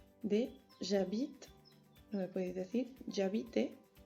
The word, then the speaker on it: j'habite: Habéis tenido todos muchos fallos en la pronunciación de j'habite, no me podéis decir j'habite, ¿vale? Porque la E prácticamente no se pronuncia. J'habite como je parle.